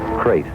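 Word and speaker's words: krait: What kind of a guy Harry Pope was and what kind of a snake a crate is. First, the crate. You spell it K-R-A-I-T.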